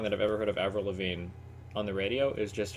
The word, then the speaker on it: Avril Lavigne: How do you pronounce that? Avril Lavigne. Avril Lavigne.